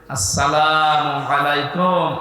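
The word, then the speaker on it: السلام عليكم: দেশসহ বিশ্বের বহু দেশে এই সালাম শব্দটা এখনো শুদ্ধ উচ্চারণে হয় না শিক্ষিত মানুষ আমরা দেখি এরা সালাম দেয় আসসালামু আলাইকুম যারা জবাব দেয় কি এটা কি মারা জিনিস নাকি জান্নাতের ভেতরে প্রবেশ করার সময় এই শব্দ দিয়ে আপনাকে সংবাদ জানাবে ফেরেশতারা সালামুন শান্তির সাথে প্রবেশ করেন এ শব্দটাকে যারা এখনো পর্যন্ত উচ্চারণে শেখেননি তাদের কপাল নষ্ট হওয়া না আজকে থেকে ঠিক করে নেবেন আসসালামু আলাইকুম আদম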